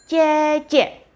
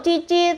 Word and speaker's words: cece: Untuk saudara perempuan yang lebih tua, panggilannya cece. Cece. Ini kalau bahasa Hokkiannya cece ya, jadi Intan manggilnya itu cece. Lah terus kalau cici itu apa? Cici itu lebih ke arah sebutan pelafalan daerah, logat daerah.